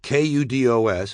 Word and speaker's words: kudos: Kudos, K-U-D-O-S, is a singular noun meaning praise, and it is properly pronounced kudos. There is also a plural form spelled the same, but pronounced kudos.